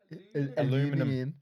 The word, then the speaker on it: Aluminium: My mine was I'm trying not to say it like American. Aluminium.